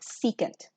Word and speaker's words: secant: is sec of theta which this one is pronounced secant and again c goes to s so therefore